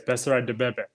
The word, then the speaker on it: Beserat Debebe: Yes, Beserat Debebe.